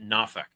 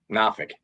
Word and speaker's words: Norfolk: But they pronounce it Nafk. Nafik.